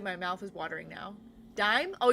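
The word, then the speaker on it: Daim: Dame is a caramel hard candy chocolate bar. It's so good. My mouth is watering now. Dime. Oh, you say it's pronounced like dime.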